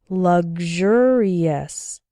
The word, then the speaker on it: luxurious: And in luxury and luxurious, it sounds like GZH, gzh, luxury, luxurious.